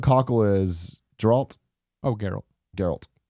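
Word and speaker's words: Geralt: is draught Oh Carol Gerald wish your butcher yeah hard G Mark Hamill as the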